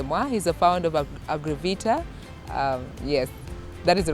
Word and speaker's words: Agrivita: a friend luge Moi he's a founder of agravita yes that is the right pronunciation they've been telling us much more what